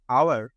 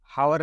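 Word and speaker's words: hour: ख it took an आवर to reach the airport है तो एच कंसोनेंट लेकिन साउंड के प्रोड्यूस होता है आवर आ य रहा ये रहा सेकंड वाला आसे हावर नहीं पढता साइलेंट आवर पढ़ते इट टूक अ आवर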